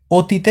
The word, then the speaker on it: অতি: এই যে অতিতে স্বাভাবিক উচ্চার স্বাভাবিক উচ্চারণ হয় নাই। এখানে উচ্চারণ হয়েছে কি? অতি। এই উচ্চারণ হয়েছে।